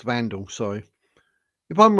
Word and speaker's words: Wandelt: If I'm wrong, let Julia Wandelt, or it's got pronounced Vandal, sorry.